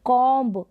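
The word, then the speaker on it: comb: अगर बी से पहले एम आ जाता है, अगर बी से पहले एम आ जाता है तो हम बी का उच्चारण नहीं करते हैं, बी साइलेंट रहता है।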